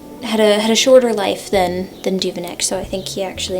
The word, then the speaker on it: Duveneck: I believe Hammershøi had a shorter life than Duveneck, so I think he actually ended up being, one lived within the time span of the other, but very interesting.